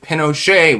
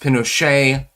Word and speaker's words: Pinochet: uh, interesting historical fact, nobody knows technically whether it's properly pronounced pinocha or pinochet. It was never confirmed or denied by I call him pinocha. Um, I'm assuming that's the pronunciation that would be preferred.